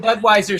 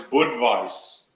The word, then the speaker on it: Budweis: The German pronunciation of the town is Budweis.